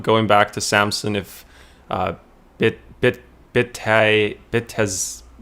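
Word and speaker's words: Bitadze: Ronald Jones says, I'm thinking about going back to Samson if Bitaz, how do you say his name? Bitatse sits tonight, Chris.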